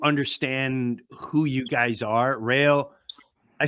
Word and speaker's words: Raio: Rayo, I say it right?